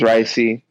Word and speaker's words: Raisi: into a positive so my name is ricey um it's spelled r-a-i-s-i um that's pretty much raising without the end so growing up at